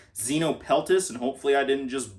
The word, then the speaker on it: Xenopeltis: They're part of their own genus, so it's the only one in that genus, and I think it's pronounced Xenopeltis, and hopefully I didn't just butcher that.